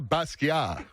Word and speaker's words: Basquiat: You don't pronounce the Basquiat. T at all.